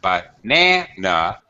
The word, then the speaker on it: banana: right like banana okay banana the middle syllable is stressed banana guess what uh